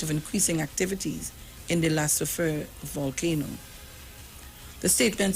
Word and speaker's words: La Soufrière: Vincent and the Grenadines in the face of an anticipated eruption of, how you pronounce that volcano? La Soufrière.